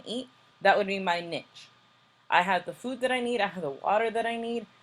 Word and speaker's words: niche: I told you guys, remember, it's pronounced niche. Do not confuse it with anything else.